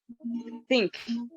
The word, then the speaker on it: think: Muitos brasileiros, nativos da língua portuguesa, não sabem pronunciar essa palavra, porque o TH, as pessoas não sabem, tem um som de S, tem um som de F. Não, nem som de S e nem som de F.